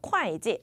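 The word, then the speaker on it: 会计: 하냐면 어떻게 읽으셔야 돼요 절대로 호지로 읽으시면 안 됩니다 어떻게 읽어야 돼요 콰지이라고 읽는 거야 콰지 아시겠죠 한번 읽어 볼게요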